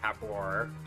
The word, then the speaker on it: Habor: So next up, I'm gonna go to Old Bully Habor, and yes, that is. Notice how it's spelled Habor. So that's how I'm gonna pronounce it.